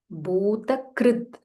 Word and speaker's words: Bhutakrit: This is Kr. It's not Kru, it is Kr. Bhuta Krit.